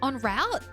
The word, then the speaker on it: en route: Now, to pronounce route, it's not route. It's en route, right? En route? Has it ever been en route? No, I feel like en route is correct. Because it's a French word, right?